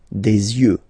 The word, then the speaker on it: yeux: And then the last one, this is probably the most strange one, un œil, des yeux, okay, don't pronounce the final X as usual, des yeux, alright.